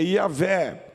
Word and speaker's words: Yahvé: Este eu sou, traduzido do hebraico, nós falamos em português Jeová, mas é Yahvé, porque no hebraico não se pronunciam vogais.